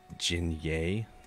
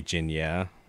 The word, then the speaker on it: Jinye: Jinye. Okay. What did I say? Did I say Jinya? Oh, yeah, okay. Jinye.